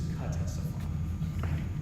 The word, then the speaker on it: Ctesiphon: The answer is Ctesiphon. Please defer to me in case they want me to spell it. Defer to John. Ctesiphon, final. That's correct. The cooler way to say it is Ctesiphon, but I won't hold it against you.